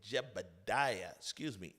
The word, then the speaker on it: Jaebadiah: going to be joined by David Long and Jaebadiah No. you said it right, Hello. Jaebadiah.